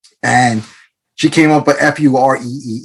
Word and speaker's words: FURE: having me on today so I might have just thrown a few people off when I said f cab um I know that it's or I believe and we're going to get into it it's fear cab ride share so yeah it's ride share the proper name is actually called free I actually find